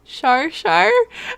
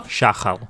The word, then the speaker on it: Shachal: And I knew it wasn't how you say his name, because I don't know Hebrew, and I can't do that cat hacking up hairball stuff. So Shachal. Yes, he's Shachal.